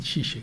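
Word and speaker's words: Žižek: ya no son comunistas como shishe le dicen shishe se escribe tiek entonces shish aparece edita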